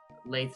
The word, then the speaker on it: Laith: Um Laith spelled like faith with an L.